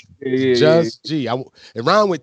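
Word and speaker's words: Juz G: Am I saying it right? Just G? Yes, Just G, like J. Just it's G. kind of okay. Just G, like J-U-Z. You know what I mean? Right. No T.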